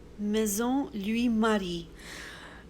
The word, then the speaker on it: Maison Louis Marie: in a perfume, and I'm just going to insert the way it should be pronounced. Maison Louis Marie.